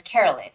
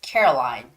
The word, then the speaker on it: Caroline: was Caroline Caroline but she said she read it as Carolyn Carolyn but actually you have to read it as Caroline so it's Caroline's ice